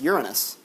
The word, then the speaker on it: Uranus: In 1821, it was discovered that the planet Uranus, it's pronounced Uranus, from Uranos, meaning the over heavens. Anos actually means also like a ring, which is the same as anus, so it is.